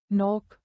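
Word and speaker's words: knock: उदाहरण knife knife नोक नॉक नो नो साइलेट एन मोन एन जब एम के बाद एन आए तो एन साइलेट रहता है।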